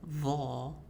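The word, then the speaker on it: ظ: But like ta and ta, dhal and dha only differ in their heaviness. So they come from the same spot, but you will frown when pronouncing dha and smile when you pronounce dhal.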